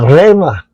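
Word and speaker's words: ῥῆμα: At tingnan natin pronunciation. Strong G 4487 R. Kakatiwa ito rema.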